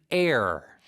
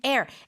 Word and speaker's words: heir: who receives an inheritance you are called an air an air h e i r it's almost like kungi